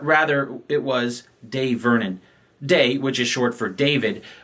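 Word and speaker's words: Dai: With that said, this one in particular is D-A-I, and I just wanted to make sure it is pronounced day.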